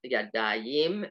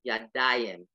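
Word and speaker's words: ידיים: So it's not yadayim, it's yadayim. So it moved this emphasis to the next to the last syllable.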